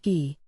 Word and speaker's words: Guy: well that earned him his name guy pronounced ghee an unpleasant sounding name